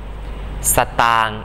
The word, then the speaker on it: สตางค์: ภาพยนต อ่าน ว่า ภาพยน สตางค์ อ่าน ว่า สตาง สัตว์ อ่าน ว่า สัตว์